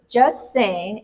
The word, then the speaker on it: Jus Sayin: um no no so just saying and that's spelled j-u-s and then s-a-y-i-n correct no G no T and no G just saying so where did this